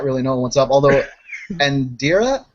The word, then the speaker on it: Undiria: Although, Undiria is how the name's pronounced out of character.